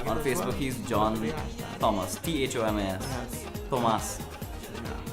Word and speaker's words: Thomas: On Facebook, he's John Thomas, THOMAS. Yes. Thomas. Yeah. The H is silent for some strange reason.